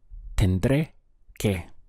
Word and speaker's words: tendré que: The sound is tendré que. Make sure that you stress that ending or you won't be understood.